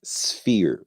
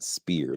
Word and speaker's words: sphere: how you pronounce it it's sphere like SF not SP like keep saying spere like you're piercing something